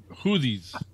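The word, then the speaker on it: Houthis: It's pronounced Hooties. Hooties. Hoothies. H-O-U-T-H-I. Hoothies.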